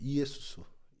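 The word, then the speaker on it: Ἰησοῦς: 구원이시다 뜻을 갖고 있는데 이게 헬라 발음으로 하면 어떻게 되죠 예 이에수스 이에수스 정확히 끊어 읽으면 이에수스 예 예수라는 이름과 수아는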